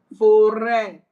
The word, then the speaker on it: forêt: But when you see that sign on E, it is pronounced as E, like accent graph. Forest. Yes, so. Yes. Forest. It is Forest. fore. Forêt.